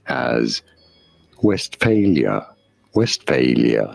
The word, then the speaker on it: Westphalia: oh good we are looking at how to pronounce the name of this region of Germany in English this is normally said as West failure West failure not West Valia but West failure if you're wondering how this